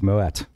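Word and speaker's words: Moët: but it's actually a moet because the family was Dutch if they were French he wouldn't be pronouncing the T but they were they were Dutch way back in the day so it's moet cool cool cool so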